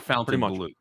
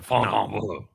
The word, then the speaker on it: Fontainebleau: Basically, the way that you just pronounce it, the way you think it would be spelled. Yeah. It's not Fontainebleau. The Fontainebleau. Fontainebleau.